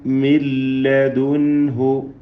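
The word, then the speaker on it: مِن لَدُنْهُ: ഇവിടെ ഓതേണ്ടത് എങ്ങനെയാണ്? മില്ലദുൻഹു, മില്ലദുൻഹു. അപ്പോൾ നൂൻ അല്പം പോലും ഉച്ചാരണത്തിലില്ല, മറിച്ച് പൂർണ്ണമായും ലാമിലേക്ക് അതിനെ ലയിപ്പിക്കപ്പെടുകയാണ്. നൂനിൻ്റെ ശബ്ദം അല്പം പോലും കേൾക്കുന്നില്ല.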